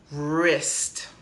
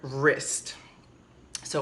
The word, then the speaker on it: wrist: little difficult and it's a little difficult to pronounce and to say it this part right here is your wrist okay your wrist so we have one wrist to wrists okay I'm